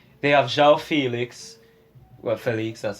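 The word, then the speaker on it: Félix: Well, Felix, that's how it's pronounced.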